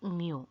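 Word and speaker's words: μ: It is pronounced as mu, and it is written as like this, mu.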